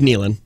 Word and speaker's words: Nealon: them for a very long time it is Nealon it is Nealon okay Kevin Nealon that just